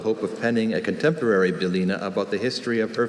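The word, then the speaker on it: bylina: Belina is a noun.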